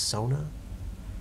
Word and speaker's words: sauna: you know they pronounce the proper way to pronounce sauna is Sona like the League of Legends character if you ever go